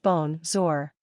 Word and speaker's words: bonjour: and Sh mixed together bonjour which means hello is pronounced bone zor J mapel means my